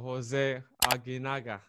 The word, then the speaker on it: José Aguinaga: All right, ladies and gentlemen, today on the Insight we've got José Aguinaga.